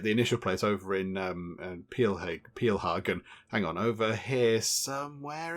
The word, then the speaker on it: Pilhagen: Somebody in the comments, by the way, pointed out that I've been calling this Pilhagen. Apparently it should be more sort of pronounced Peelhagen.